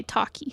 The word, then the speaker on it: Taki: owner kind of thing her name is pronounced like Pocky but with a t Okay Taki sorry thank you um